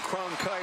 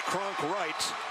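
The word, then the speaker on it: Cronkrite: Jordan, I called him Cronkite earlier. It's Kronkwright. I got it right that time.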